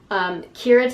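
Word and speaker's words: Keira: I think this is pronounced Kira, K-E-I-R-A. Kira takes refuge in an abandoned groundskeeper's cottage.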